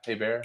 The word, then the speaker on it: Heber: But like I've owned a Haber. Is that Heber? Is that how you say it? Is it Haber? Haber? Yeah, you know the NYC guy, Heber.